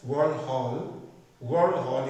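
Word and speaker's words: Verhulst: और जो नाम आता है वो जो मतलब किसके नाम पे, वर्ल्ड हॉल ये डेनिस है, आप स्पेलिंग देखोगे तो अलग आएगा, वर्ल्ड हॉल पर्ल मॉडल कहा जाता है।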